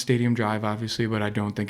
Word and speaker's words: Stadium Dr.: It's it's pronounced Stadium Drive, obviously, but I don't think it's too big of a leap. And if you want to call it Stadium Doctor, then that's fine, too.